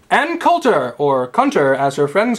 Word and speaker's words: Coulter: Ann Coulter! I don't know who it is. I thought it was a French pronunciation. Number 3, Anne Coulter, who attacked 9/11. Coulter! We just told you it was Coulter.